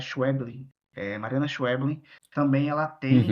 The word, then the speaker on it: Schweblin: Tem a Mariana, eu toda vez me confundo a pronúncia dela, é Schweblin, Mariana Schweblin.